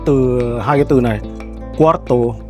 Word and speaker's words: cuarto: Tương tự như thế thì chúng ta có từ cuarto.